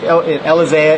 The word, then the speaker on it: Elizea: Elizea is how you say my name.